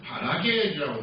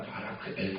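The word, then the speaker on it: ברכאל: 그리고 그 아버지는 바라겔이라고 해, 바라크엘입니다. 바라크엘. 원래 이렇게 히브리 발음을 한다면 하나님이 축복하신다라는 그런 뜻입니다.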